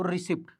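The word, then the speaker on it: receipt: का मतलब होता है हालांकि रिसीप्ट हम लोग बोलते पढ़ाता रिसीप्ट है ठीक है लेकिन हम लोग क्यों साइलेंट करें इतना मुश्किल से इंग्लिश सीखते हु भी प साइलेंट कर दे रिप्ट तो रिसीप्ट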